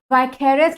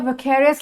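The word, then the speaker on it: vicarious: तो अभी आज की क्लास में हम देखने वाले हैं कि वाइकेरियस लायबिलिटी या विकेरियस लायबिलिटी भी इसे प्रोनाउंसिएट किया जाता है, वो क्या होगा, और एट द सेम टाइम हम देखेंगे रेमेडीज क्या अवेलेबल है टॉर्ट्स के अंदर.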